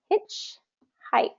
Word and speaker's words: hitchhiked: hitchhiked I hitchhiked and this is a compound noun so first syllable stress remember when we have compound nouns we always stress the first syllable hitchhiked um and that